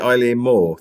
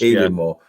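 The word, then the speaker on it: Eilean Mòr: you sent um I is it Eileen Moore the the island more it's pronounced even more I mean it's so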